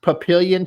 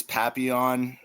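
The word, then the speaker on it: Papillon: Did I pronounce Papilian Chihuahua correctly? It's one of those French words. It's papion.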